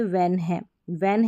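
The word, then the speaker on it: when: जैसे वेन है साइलेंट ही है, एच का जो उच्चारण है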